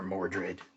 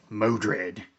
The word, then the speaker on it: Mordred: Enter Mordred, the Mystic. I always mispronounce Mordred's name as well. Modred.